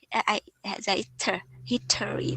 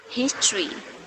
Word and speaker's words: history: also for now hater hittery but but it's not history right it is history his and tree together say his he then tree his tree history very good history oh